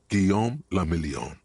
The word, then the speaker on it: Guillaume Lamillion: meant only one thing guillaume lamillion if it doesn't rhyme you're not pronouncing it right out of the dazzling